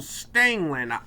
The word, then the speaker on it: Stangeland: says, trying to say Stangeland, it's R in there. Stangeland. Okay, I got it. Okay, there's a silent R. Well, no, there's no R in there at all.